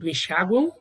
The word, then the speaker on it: enxaguam: No caso aqui do enxaguam, o M tem som de U, mas você registra com M. Só que, foneticamente, você tem uma semivogal, porque ela tem pronúncia de U.